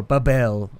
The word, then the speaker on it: Babel: a geological tower of Babel. Or Babel. I mean, some people like the alternate pronunciation. I like to go with Babel, but, you know, Babel works too.